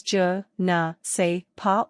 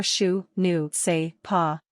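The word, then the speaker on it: je ne sais quoi: To pronounce the j like shu, shape your mouth like you are beginning to shush someone, but carry on the sh sound by following with a sound almost halfway between and oo. This should sound something like eu.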